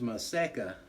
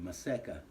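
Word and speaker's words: Maseca: the the red mill or you could use my seca which is another brand it's spelled m a z e c a maseka and it's like a corn flour or you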